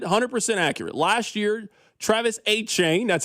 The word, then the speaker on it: Etienne: Last year, Travis Etienne, that's how he pronounces it.